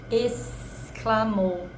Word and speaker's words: exclamou: Exclamou. Tem um som de S, mas se escreve com X.